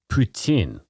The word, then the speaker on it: poutine: So to answer your question, it's regional pronunciation. The Quebec French pronunciation of poutine. Yeah, and the rest of us is poutine. Just the rest of us are like poutine. Poutine. Right. Yeah, so it's regional.